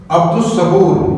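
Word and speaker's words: عبد الصبور: स्वाद शमसी ह है स्वाद शमसी है तो इसको हमने अब्दु सूर क्योंकि लाम साइट हो गया दाल डायरेक्ट मिलता है स्वाद के साथ स्वा की आवाज डबल हो जाती है साउंड उसका मुश हो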